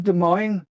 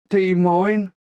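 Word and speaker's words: Des Moines: January 1982, we played the Veterans Auditorium in De Moine, Iowa. I'll never forget the name of that place, that's for sure, or how to pronounce it. De Moine.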